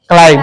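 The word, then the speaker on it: climb: क्लाइम। क्या होता है? क्लाइम। क्लाइम। क्लाइम में चढ़ना है। सी एल आई E silent हो जाता है।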